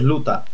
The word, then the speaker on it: luta: Y no es loita, en portugués es luta, tío.